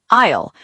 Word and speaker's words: aisle: Word 2, aisle. A-I-S-L-E. The long path between the shelves. Remember, the S is silent.